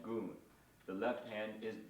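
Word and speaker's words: gun: Okay, so we have the bass tone, right hand, the syllable is called goon.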